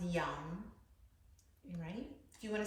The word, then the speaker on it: Yam: that's because you're hungry so it's young y y-a-m but it's pronounced young you ready do you